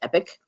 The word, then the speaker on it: EPC: now is in this one one place um epic it stands the the acronym that EPC stands for eate productivity Center it is pronounced epic um and it is your One-Stop shopping for